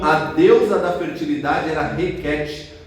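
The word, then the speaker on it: Hekhet: E é interessante que a deusa egípcia da fertilidade, conhecida como Requete, H-E-K-H-E-T, é claro que é uma transliteração, né? Mas se pronuncia Requete, a deusa rã da fertilidade, do parto, da regeneração.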